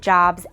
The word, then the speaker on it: Jobs: of your classes, and you still pronounce his name the way he and his family did, with a long O, like Job in the Bible.